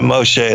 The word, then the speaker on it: Moshe: talk about mostly sir Moshe as you say it right yeah Moshe a that's the Hebrew name for Moses yeah and so Moses